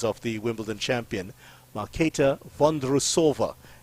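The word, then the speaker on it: Markéta Vondroušová: of The Wimbledon champion malkata van derussova is the correct way let me just say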